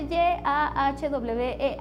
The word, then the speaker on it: Yahweh: Sí, eso simplemente nos habla de la pronunciación, pero incluso cuando yo abro mi Biblia Kadosh y veo ese Y-A-H-W-E-H, digo, wow, ¿y esto cómo se pronuncia?